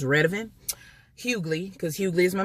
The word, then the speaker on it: Redavyn: The way you pronounce that name on my channel is Redavyn.